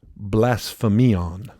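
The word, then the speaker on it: βλασφημίαν: The word slander in Greek is pronounced blasphemion. Mm-hmm. Get it? Blasphemion.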